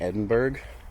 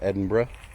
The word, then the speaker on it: Edinburgh: I thought was ridiculous like you're going to pronounce belois beaver and give people a hard time for saying Edinburg instead of Edinburgh and so this you know there's just idiosyncrasies